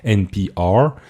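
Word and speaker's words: NPR: musique maintenant alors c'est américain du coup on prononce NP are c'est NBA Music et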